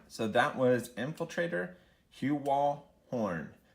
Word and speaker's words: Horne: All right, so that was Infiltrator Heuwall Horne. Again, the E is silent, folks.